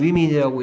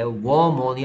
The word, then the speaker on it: women: 예, 여러분들 이게 위민이라고 하는지 언제쯤 위민이라고 읽을지 내가 볼 거야. 됐습니까? 얘는 위민이라고 읽어야 돼. 워먼이 아니야. 워먼.